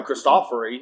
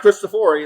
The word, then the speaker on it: Cristofori: So right, but when the piano was first born by Cristofori, and that's how you say his name, I learned that at a PTG convention. It's not really? Yeah, it's not Cristofori, it's Cristofori.